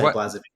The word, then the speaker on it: Blazevic: I normally say Blazevic so I mean given that last name of yours it sounds like you have some European heritage right?